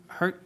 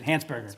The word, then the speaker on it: Hansberger: So Gary is it Gary Hersburgger Hersburgger. Sorry I'm sorry if I go ahead Gary. My apologies mispronouncing your name. It was Hansburgger.